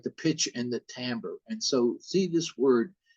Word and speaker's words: timbre: the pitch and the timbre and so see this word t-i-m-b-r and uh it's pronounced by musicians timbre and sometimes people say timber and but that's not